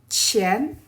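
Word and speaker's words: 钱: It pronounced as qi, yi, an, qian, qian. qian.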